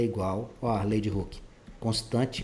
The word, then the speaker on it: Hooke: significa essa lei de hooke isso aqui é o Hulk lá do da Marvel na hora e pronome que o nome tem a pronúncia mas não escrita Idêntica lei de hooke ele